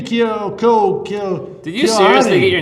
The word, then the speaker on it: Keohane: Well, in Ireland, it's Keohane.